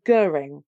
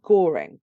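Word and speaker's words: Göring: That it's not Goring. It's not Goring. It's actually Goring.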